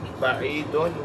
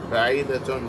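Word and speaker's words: بعيدة: No, not ba'id. Ba'idatun. Why? Because mahatta or station is feminine.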